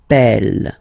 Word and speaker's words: appel: and then you get a double consonant, and well, they are the same, then it does change the pronunciation of e. You tend to pronounce it like really open. That's the reason why you pronounce it appel, appel.